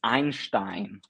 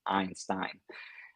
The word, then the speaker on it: Einstein: And this web app is called, let me pronounce it in an English way. It's called Einstein Cat. Now all the Germans in front of the laptops will be like, it's Einstein, not Einstein. So it's basically Einstein, one of the biggest